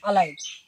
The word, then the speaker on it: alive: ए से, क्या बोले, जब किसी भी वर्ड के शुरू में ए रहा है, लगा हुआ रहे, तो ए का उच्चारण क्या होता है, अ होता है, ठीक है, अलाइव हो गया।